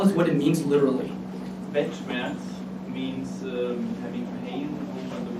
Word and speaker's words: Weltschmerz: Weltschmerz means having pain over the world. Okay, Weltschmerz. Sorry for my pronunciation.